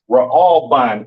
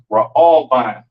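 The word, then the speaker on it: ראובן: But these are your Seminole Indians today, and this is pronounced Ra'alban in the Hebrew, Ra'alban, right?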